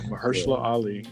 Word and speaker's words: Mahershala Ali: Yeah, Mahershala Ali.